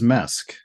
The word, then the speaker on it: MESC: it like mesc or do do you say mask our preferred pronunciation is mesque uh a little tighter cleaner yeah it's good